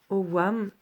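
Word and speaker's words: Ogham: dans la LOA voilà c'est écrit Hogan mais ça se prononce au WAM en fait ce sont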